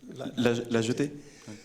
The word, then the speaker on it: La Jetée: I don't know how to pronounce the title. La Jetée. La Jetée.